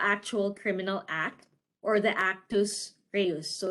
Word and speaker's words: actus reus: The principal in the first degree is the individual who performs the actual criminal act, or the actus reus. So it's spelled A-C-T-U-S, first word.